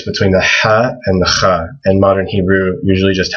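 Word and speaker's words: خاء: And this is also hard to pronounce, but people usually write a KH for Kha. It's similar to, like in Hebrew, people say Chanukah. It's the exact same sound in Arabic.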